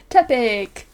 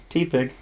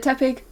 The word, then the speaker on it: Tepig: Tepig. T-Pig. What? T-Pig. No. That's not how it's pronounced.